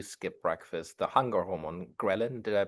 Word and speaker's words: ghrelin: when you do skip breakfast, the hunger hormone ghrelin, did I pronounce this correctly? Yeah, ghrelin.